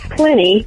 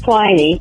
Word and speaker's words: Pliny: Work on your pronunciations like Aristophanes, not Aristophanes, Pliny, not Pliny, and Pompey, not Pompeii, the city which was destroyed by Vesuvius.